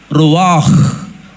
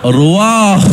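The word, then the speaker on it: רוח: Wind in Hebrew Bible, they use another word in Hebrew, that is ruach. It has to be pronounced like this, not ruach, ruach, ruach.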